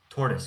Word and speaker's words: tortoise: Tortoise. Okay. So, not tortoise. Tortoise. The oi. It's like a u sound.